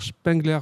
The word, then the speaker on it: Spengler: Et pour ça, je vais me servir d'un certain Oscar Spengler. Je le prononce bien ? Oui, Spengler, oui.